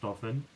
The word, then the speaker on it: Dauphin: That's pronounced Dauphin.